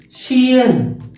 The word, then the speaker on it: ocean: Ocean, shian. See, the same letter C in the two words, we have to read it three sounds.